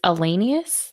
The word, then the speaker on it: Alenius: It's Alenius, like miscellaneous.